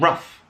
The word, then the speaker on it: rough: And of course, other words pronounced in the same way with OUGH, tough and rough.